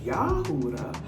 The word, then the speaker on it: Yahudah: I am daughter of Judah. Properly pronounced Yahudah because there's no J's in Hebrew.